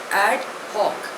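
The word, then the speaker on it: ad hoc: वी गो the first word is एड हक spelling इ एडी एच ओ सी pronunciation इ एड हक इट is Latin word it मीस for this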